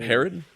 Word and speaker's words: Herod: uh of uh Horde, I think that's you pronounce his name. Herod.